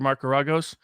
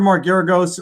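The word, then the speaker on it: Geragos: my advertising pitch for marcaragos if you want to lose hire marcaragos well there's nobody loses like he does i think you're mispronouncing his name also i think it's mark that may be deliberate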